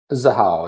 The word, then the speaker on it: Xahau: XAHAU is how it's pronounced.